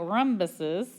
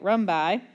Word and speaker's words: rhombi: So we're going to take the information we know about rhombuses, that's not how you say it, rhombi, and fill this in.